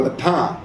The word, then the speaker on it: Le Pen: Uh French court allows Marine Le Pen or they call her Le Pan because I know they don't pronounce the last letter to run for president with ankle tag.